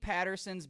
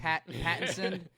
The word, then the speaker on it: Pattinson: I think Patterson's Batman. Pattinson. What did I say? Patterson? Mhm. Pattinson? Patterson? Yeah, Batman Patterson. Yeah. Pattinson. I always say it wrong.